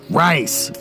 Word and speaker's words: Reisz: Question, how do you pronounce Reisz? Answer, Reisz, like the food.